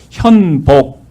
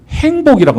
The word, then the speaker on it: 현복: 그래서 현복 이렇게 지어주셨는데 우리 땅끝에서는 아무도 이 니은자 발음을 제대로 못해요. 그러니까 항상 이름이 현복이 아니라 뭐라고 나올까요? 행복이라고 나와요. 니은자 발음도 못하지만 여 발음도 잘 못해요.